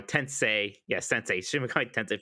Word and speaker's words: Tensei: Tensei.